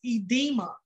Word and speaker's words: edema: My next word is pronounced edema.